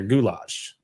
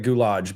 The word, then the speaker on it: goulash: what what is gulage I probably said it wrong I called it gulage but Gage yeah goulash okay okay I got you yeah though this